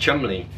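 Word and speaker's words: Cholmondeley: bolder or something else like chumley is actually pronounced chumley which obviously i have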